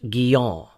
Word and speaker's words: Guyon: When I first read the autobiographies of John Bunyan and Madame Guyon, properly pronounced Guyon, I was encouraged by the fact that they too had suffered greatly for their faith in Christ.